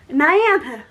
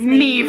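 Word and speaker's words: Niamh: So I'll sit here and say things like Nyantha. And she says, it's Neve.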